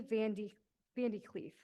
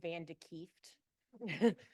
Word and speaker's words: Van de Kieft: Her name is Dorothy Vandy Cleef. Hi, if you're Dutch, you know it's Van de Kieft.